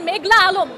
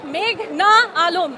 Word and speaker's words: মেঘনা আলম: আদালতে এসে শুনি পিপি বলছেন মেঘলা আলম। আমার নাম মেঘনা আলম এই নামটা তারা উচ্চারণ